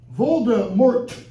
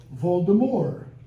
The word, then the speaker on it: Voldemort: put their faith in Boulder American pronunciation Voldemort because we pronounce those final consonants if you're French you don't pronounce final consonants so it's Voldemort Vol from Lenten Volare